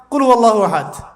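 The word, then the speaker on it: قل هو الله أحد: আরেকটা সূরা পড়ে গেলাম কুলহু আল্লাহু আহাদ কি কুলহু আল্লাহু আহাদ মানে কি এটা উচ্চারণই বা কেমন করে করতে হয় কুল বলুন হু আল্লাহু আহাদ তিনি আল্লাহ এক এই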